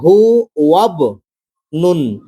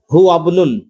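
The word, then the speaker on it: هو ابن: তো এখানে হু ওয়াব নুন, আলিফটা বাদ হয়ে যাবে, এখানে হয়ে গেল হু, হু আবনুন।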